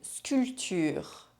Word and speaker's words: sculpture: And there are also sometimes random silent consonants inside words. Here are the most common ones. En automne. L'asthme. Longtemps. Condamné. Un baptême. Compter. 7. Un fils. Un rond-point. Une sculpture.